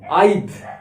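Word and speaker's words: I've: Okay, I have, I apostrophe ভিই, এখানে এইচ এটা কিন্তু হয়নি, ভিই, আইভ, দেখো আইভ, আই ভিই, ওপরে অ্যাপোস্ট্রফিটা কিন্তু উই হ্যাভ টু ইউজ।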